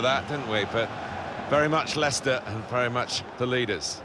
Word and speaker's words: Leicester: try to learn how to pronounce their name lice Esther Lai Chester we got a lot of that and wafer very much Leicester and very much the